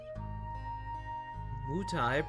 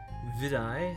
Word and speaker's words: Wutai: Wutai, pronounced Vidai in the Rukai language.